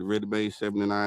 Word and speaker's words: Redimade: me on Instagram at ReadyMade79 and also on Twitter at ReadyMade79. Spell it out for him, man.